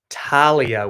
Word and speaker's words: Talia: It's Talia with a silent H. Thank you. That's really good. Talia.